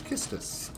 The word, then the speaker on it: Kistis: Also, that is how you pronounce her name. The Romanja is Kisu Pisu, so it's Kistis.